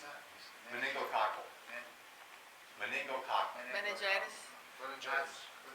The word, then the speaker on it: meningococcal: And then if you, how do you pronounce that? Meningococcal.